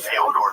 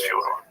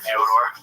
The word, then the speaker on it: Fyodor: he's saying that because Fedor Emelianenko. I'm like, yeah, well, that's kind of the accepted American pronunciation of Fyodor, though. Right. So I wanted to ask you if it was Fyodor.